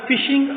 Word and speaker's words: phishing: Topic ہے وہ ہے فشنگ اٹیک۔ لفظ سپیلنگ جو ہے وہ PHISHING، فشنگ پڑھنا ہے اسے، پی سائلنٹ ہے۔ برٹش انگلش رول کے